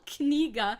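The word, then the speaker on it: книга: Oh, well, Kniga. If you say it with enough, if you are sure to pronounce the K, then you're fine.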